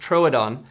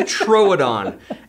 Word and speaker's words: Troodon: In Jurassic Park, it's pronounced Troodon, so we know that that is the most scientifically accurate source. Yes. So we're gonna call it the Troodon. It is the Troodon.